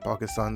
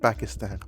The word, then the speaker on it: Pakistan: I'm sorry, I said Pakistan. That is not how it is pronounced. It is in fact called Pakistan. Pakistan. You pack, and then you stand.